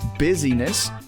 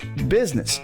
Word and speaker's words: business: with the word business it's not busyness it's not business either I've heard that too it's business two syllables busness sometimes it even gets